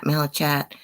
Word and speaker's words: malachite: I didn't know if I was pronouncing it right because the way it's spelled, it's Malachite. So I was saying chat, but it's cat.